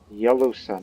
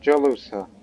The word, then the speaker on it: Jalusa: Yalusa, not Jalusa. I want to correct that pronunciation. It's Yalusa.